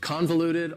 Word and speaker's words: convoluted: Convoluted also has 4 syllables, and the stress is on the first syllable. Convoluted. That second syllable, again, has that schwa sound, that reduced vowel sound.